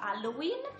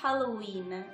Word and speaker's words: Halloween: in maniera corretta Infatti questa festa non si pronuncia Halloween bensì Halloween bisognerà mettere un po' di enfasi sulla h iniziale e sulla finale della parola per cui Halloween provate